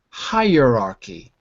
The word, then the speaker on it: hierarchy: to my pronunciation higher hierarchy there's a y sound in there higher there's a y